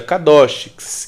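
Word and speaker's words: קדוש: significado da palavra Santificação santidade no hebraico se pronuncia cados que é um adjetivo que significa separado mas especificamente separado para uma obra específica ou especial a palavra kadoch ela aparece 469 vezes no antigo testamento em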